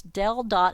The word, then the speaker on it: del: by the following now that upside down triangle is pronounced Dell so it's dell.